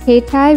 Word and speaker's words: keitai: a cellular phone set pronounce this as k-tie without stressing on the syllables japanese words don't have stress rhinedoll rheindoll is a